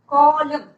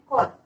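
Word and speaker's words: column: खड़ा हुआ था, toll कॉलम। And what about this word कॉलम? कॉलम, एन is silent here, C-O-L-U-M-N, कॉलम।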